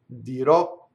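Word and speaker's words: dirò: say right dear all future dear o always open open at the end dear o now words that end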